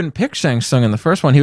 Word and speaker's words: Shang Tsung: It's supposed to be sung. Shang Tsung.